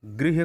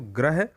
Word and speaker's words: गृह: जैसे गृह होता है घर वाला, ये पृथ्वी शब्द होता है, उसमें री की मात्रा लगती है, जिसको बच्चे प्रायः गृह को ग्रह और पृथ्वी को पृथ्वी बोलते हैं।